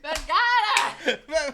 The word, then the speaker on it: Vergara: Varga? Vergara. How do you say her last name? Vergada.